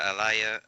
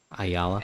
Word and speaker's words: Ayala: Which is Vida Alaya. Oh, how do you pronounce her name? Ayala. And I think Ayala.